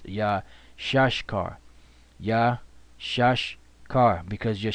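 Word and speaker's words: Issachar: is yeah shush car which we used to think it was Josh Shekhar which is not the Brit the proper way to pronounce it which elder to our brother is yeah shush car yeah shush car because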